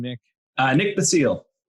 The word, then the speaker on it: Basile: you say your last name Nick I need the seal the seal hmm and yeah do you want to just